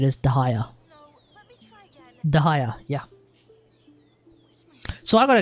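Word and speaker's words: Dehya: With Dia, I mean, I would have thought it was Dea, honestly.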